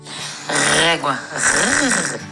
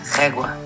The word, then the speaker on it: Régua: I'm going to let Barbara, our guide, pronounce the name of this town. Régua. Régua.